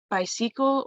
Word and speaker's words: bicycle: Yasmin, the first thing I wanted to note is the accent on the word bicycle. I believe you said bicycle or something like that, I forget, but the correct pronunciation is bicycle.